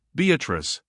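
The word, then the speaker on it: Beatrice: place I come note beatric I use this word as it is pronounced in the Italian as consisting of four syllables of which the third is a long one Revisited with with joy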